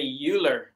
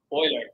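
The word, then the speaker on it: Euler: o Oilers name name because I would say uler you know because yeah yeah that's why I say uh you cannot these pronunciations I not I myself not sure which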